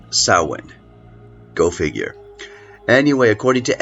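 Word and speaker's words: Samhain: spellings It's s m h a i n pronounced sa go figure anyway according to experts sa sort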